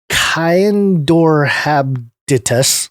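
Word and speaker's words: Caenorhabditis: genetic analysis of Kyaindorhabditis. Oh boy, I just butchered that.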